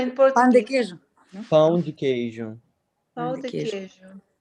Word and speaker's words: pão de queijo: Yeah, that is How this to pronounce it correctly? cheese bread. It's like No, the in pão de Portuguese. queijo. pão de queijo, Pão de de queijo.